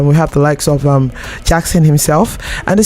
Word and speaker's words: JVXN: Yeah, so JV X and N, that's Jackson.